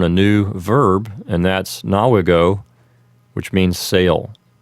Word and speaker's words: navigo: In Lesson 55, we simply learn a new verb, and that's nawigo, which means sail. Remember, if you're using ecclesiastical pronunciation, nawigo would sound like navigo.